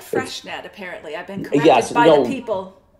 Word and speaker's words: Freixenet: I am drinking the Freshnet. I only recently learned how to pronounce that. I used to say Freixenet, like it was some sort of hairspray. Yeah.